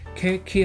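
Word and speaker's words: 景気: 그다음에 이거는 경기라고 해서 케키 하면 경기가 나쁘다 할 때 그 경기입니다.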